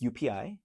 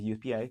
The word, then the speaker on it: joepii: It's like the spelling is like it's Joepii, but it's UPI. It's pronounced as UPI.